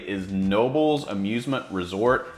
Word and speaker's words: Knoebels: I don't know how to pronounce this one, but coming in at number 8 is Nobles Amusement Resort. It's Knoebels Amusement Resort in Ellisburg, Pennsylvania.